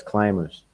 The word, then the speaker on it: climbers: no no sound on them yeah climbers yes climbers the b the b is no is silent it's silent okay i didn't know that